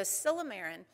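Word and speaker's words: silymarin: he's given me the thumbs up okay so silomerin is extract of milk thistle and when you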